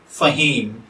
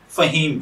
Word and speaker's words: Faheem: फहीम की उर्दू अरेबिक इमला में जो हुरूफ बितरतीब इस्तेमाल होते हैं वो हैं फा, हा, या और मीम, जबकि इंग्लिश में इसके spelling F ए H double E एम के साथ किए जाते हैं।